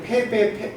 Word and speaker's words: 패배: 그 다음에 저 밑에는 제가 패배, 변셋이 이렇게 썼는데 이거는 이 패 다음에 이 북이 나오면 원래는 이게 북녘국자인데 패라는 글자 다음에 나올 때는 배라고 읽습니다. 이걸 패북 이렇게 읽으면 안 되고요.